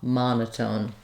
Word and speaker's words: monotone: in English and so since Ma is stressed in this first syllable um letter O says a ma monotone um and so that's